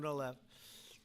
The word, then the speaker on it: Gonal-F: So it's Gonal-F. Is that a proper pronunciation? Very Close well enough, done. right? Very well done. Gonal-F.